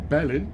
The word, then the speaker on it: Berlin: Anyway, willkommen in Berlin, everyone, or Berlin, as the Germans prefer to pronounce it.